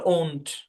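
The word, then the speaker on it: won't: Will not থেকে ওন্ট, ওন্ট। এখানে আমি ও, ও দিয়ে লিখছি। ও দিয়েও লেখা যায়, ও দিয়েও আমরা সাধারণত উচ্চারণ করি, কিন্তু অরিজিনালি ওন্ট, ও করে সাউন্ড আসে অরিজিনালি।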